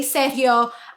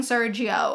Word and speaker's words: Sergio: I say Sergio listen I'm a Latina that is how you say that name okay we say Sergio I know that like you guys say Sergio but I'm not going to be saying Sergio the strange advice of